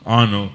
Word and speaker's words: Arnoux: I had a guy tell me once, Arno, and Arno is spelled Arnoux, last name.